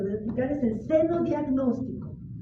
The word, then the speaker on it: xenodiagnóstico: a explicar es el seno diagnóstico seno diagnóstico se escribe con x al principio xenodiagnóstico xenodiagnóstico también se utiliza